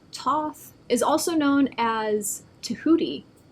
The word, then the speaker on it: Thoth: teacher Awakening Divine magic Thoth pronounced Toth is also known as